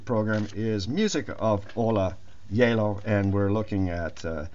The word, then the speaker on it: Gjeilo: because it is norwegian hola o l a yellow spelt g j e i l o and i'm taking this